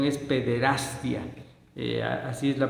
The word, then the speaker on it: pederastia: Sobre todo cuando se empezaron a dar a conocer los casos de pederastia, porque la pronunciación es pederastia, así es la pronunciación correcta, provocada por Marcial